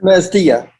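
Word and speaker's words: Masdea: Mastia.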